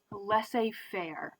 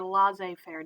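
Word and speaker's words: laissez-faire: of burger right um this is what we call less a fair or laissez faire depending on its French so Americans can pronounce it either way and what this means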